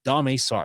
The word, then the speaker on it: Domar: Uh, a lot of people pronounced it dame, but uh, doing research on it. Apparently, it's Domar.